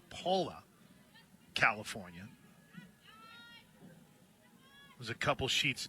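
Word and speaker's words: Pala: Swinging to Miss Whe is actually Paula. P A L A pronounced Paula.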